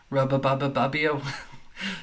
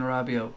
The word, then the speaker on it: Rabiot: Rabio, or as Craig calls him, Rababababio. Yeah, I had a bit of a mare trying to pronounce his name last night. Adrian Rabiot.